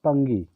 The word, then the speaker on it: pungi: Sometimes it is also pronunciated as पंगी। आप पुंगी या पंगी जो भी इसको उच्चारित करें, दोनों सही हैं।